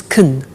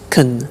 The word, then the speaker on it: can: can speak Spanish now notice the pronunciation of can becomes Caen she can she can speak Spanish he can play tennis we can speak German all right so can becomes Caen when we speak now the negative form